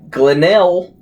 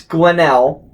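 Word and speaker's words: Ghlynnyl: supposed to be pronounced so it is glenel is the g-h-l-y-n-n-y-l that's glennell that's after the mother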